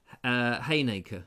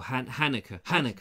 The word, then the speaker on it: Halnaker: Now, I'm being told that Halnaker Windmill, you should not pronounce the L. But I like pronouncing the L, personally. But I think it's supposed to be Haynaker or Hannaker.